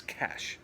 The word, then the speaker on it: cache: an operational cash and the word is cash that's how it's pronounced is just a something